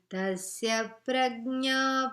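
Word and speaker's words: tasya prajñā: So, when a short vowel is followed by a conjunct consonant, it causes a doubling in the pronunciation. Tasya prajna. Okay? Like Rama Prasad, like that.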